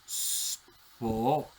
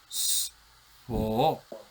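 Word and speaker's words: σφῷ: Atención a la pronunciación. Spo. Spo. Spo.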